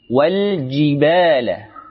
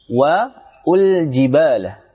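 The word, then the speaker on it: والجبال: Ketika disambung, maka alif yang berkepala shad tersebut tidak dianggap atau yang kita kenal hamzah wasal. Wal jibala, langsung wal jibala. Jangan membacanya wal wa ul jibala. Ini kurang tepat.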